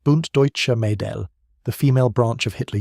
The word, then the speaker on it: Bund Deutscher Mädel: At 15, she joined the Bund Deutscher Mädel, pronounced Bund Deutscher Mädel, the female branch of Hitler Youth.